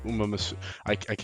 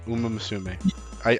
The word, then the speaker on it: Umamusume: I know what I'm gonna get killed if I mispronounce. Umamusume. Umamusume.